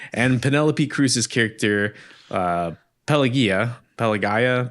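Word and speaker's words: Pelagia: Penelopey Cruz's character uh Pelia, Pelagaya. Pelia, I think it's close, I think. Yeah, I think it's a soft G like supposedly like Pelia or something in Greek.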